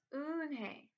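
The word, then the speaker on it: Eun-hye: Joey your name is unhe he asked her with his eyes open wide and he looked quickly at mr. Kim and turned to Joey he nodded slowly yes it's pronounced oh and hey and it means grace mr.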